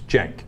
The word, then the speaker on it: Cenk: The C is pronounced like a J, Pastor Manning. It's Cenk, okay? I know it's Turkish / Bosnian, but.